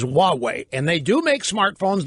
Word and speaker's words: Huawei: Now, that is spelled Huawei. For those in real Linda, maybe easier to think of it as Huawei. But the correct pronunciation is Huawei.